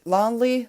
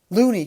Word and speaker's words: Looney: player but now he knows and kevin lone lonely lonely how do you pronounce his name looney kevin looney right kevin lonely um bro he